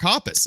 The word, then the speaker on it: Hoppus: Man, Mark uh Hoppus? Is that how you say his name, Jason? is, yeah. Okay, Mark Hoppus.